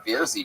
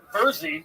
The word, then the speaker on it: Verzi: The fucking Vierzy triplets. Tell us something interesting about you guys. Our name is pronounced Verzi triplets, like Jersey.